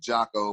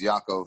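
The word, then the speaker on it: Jotko: believe is Christophe Yakko I've been saying Jocko but everybody I've been talking to his oblate says Yakko so and it's geo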